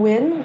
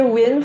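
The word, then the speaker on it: Wyn: last I uh so I'm win that's spelled w-y-n-l-y-n as a Discord nope so I regret uh putting my handle as but you can call me win for short so it's w-y-n um I'm a painter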